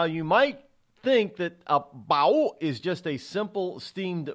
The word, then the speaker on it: bao: Bao, B-A-O. It is National Bao Day. You have to say it like Chinese.